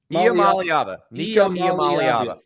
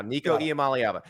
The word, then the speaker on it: Iamaleava: Nico himself told me how to pronounce it. Maliava. Nico Iamaleava. I've got it now. Nico Iamaleava.